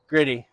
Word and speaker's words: Gritty: today for his brother gritty rhymes with Diddy um he is uh